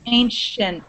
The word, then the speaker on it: ancient: That C-I sound in the middle of those words, it sounds like a sh. Ancient. Ancient. Ancient.